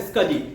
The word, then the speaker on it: SCSI: Small computer system interface, लेकिन इसका जो प्रोनाउंसिएशन होता है वो होता है स्कजी।